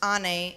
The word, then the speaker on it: Anne: curious and energetic girls my name Anne pronounced Ane is the Turkish word for mother this is the most